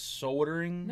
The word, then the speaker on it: soldering: not soldering it's soldering soldering soldering oh my God yeah all right enough I'm I'm already tired son of a the L is silent they only say the L in England oh well we're not